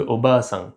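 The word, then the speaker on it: おばあさん: Par exemple au bassin la tente c'est pas le même mot que au basin qui veut dire la grand-mère. Le a est plus long.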